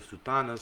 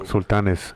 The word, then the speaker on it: Sultanes: And then Pete Jimenez has the Sultanas. So Sultanes.